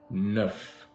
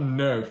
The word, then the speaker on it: neuf: Neuf. And in Spanish, how do you say nine? In Spanish, we say nueve. Nueve. Not nerf, like it was a nerf gun. Not the nerf gun, friend. Neuf. Neuf.